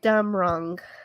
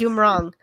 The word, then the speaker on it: Dumrong: Sheva Pravat Dumrong. Yes. Dumrong. Right. Maybe Just the break it Dumrong. up into syllables.